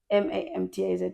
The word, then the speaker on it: Mamtaz: Or you can say like, Mamtaz is like European way, like the MMTZ. MAMTAZ, yes. But you pronounce it as Mamtaz.